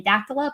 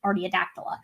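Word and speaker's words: Artiodactyla: the clade of that i always mess up how to pronounce this uh i always say or the adaptola but it's actually just seat artiadactyla which is going to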